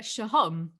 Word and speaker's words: Sohom: Shahom.